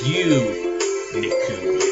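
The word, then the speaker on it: 牛肉: another character like that, it can change it to a more U sounding. So gi becomes gu. And then it's got a U after that, so it's like a drawn out pronunciation where it's like U. And then it's got ni and ku at the end for meat. So gu niku.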